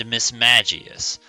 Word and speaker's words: Mismagius: Today we're looking at, it's pronounced Misdreavus and Mismagius.